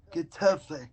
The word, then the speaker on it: Getafe: I think when they were beaten by, I don't know how you pronounce their name, Getafe? Getafe.